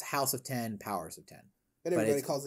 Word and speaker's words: House of X: a recent comic run called uh it's technically pronounced house of 10 powers of 10. everybody calls it house of x and power of x jonathan hickman has made